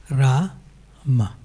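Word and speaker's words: Rāma: So when it says Ra-ma, the first A has a diacritic dash on it. So it's long, Ra, and then the second A is short, Ma, Ra-ma.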